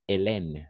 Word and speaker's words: Hélène: Alors, on va prononcer Hélène, d'accord? Parce que le H est muet. Le H est muet. La H est muda. H muet. D'accord? Muet. Le H est muet. Le H est muet, en effet.